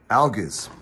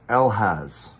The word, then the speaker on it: Algiz: Anyways, this is ALGIZ. Other pronunciations, ALGIZ, ALGIZ.